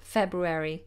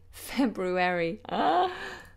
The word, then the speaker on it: February: saying different things okay let's go with February with a row I should I should work on that one to February February February there we go February that was the